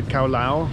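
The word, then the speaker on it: cao lầu: we can get the cowl I'll I think is how it's pronounced but it's the dish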